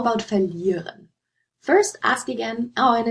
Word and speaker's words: verlieren: So first, think about whether this is this has stress on the prefix or the stem. Do you say verlieren or verlieren? You say verlieren, right?